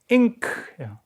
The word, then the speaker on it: Inc.: ink. 근데 이게 이제 뭐 이렇게 쓸 때 필요한 잉크가 아니라 incorporated 주식회사를 in크라고 이렇게 inc로 약어를 쓰고 이렇게 발음하는 경우도 있습니다.